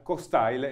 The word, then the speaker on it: Cokstile: scoperto questa sera eh si pronuncia costyle e non un consiglio come detto